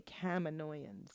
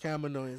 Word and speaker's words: Kaminoans: So I knew to say Kaminoans. Kaminoans, there you yes.